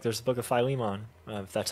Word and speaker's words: Philemon: used to say like Phil lemon fian Philemon I just I used to pronounce it how it looks but I mean that's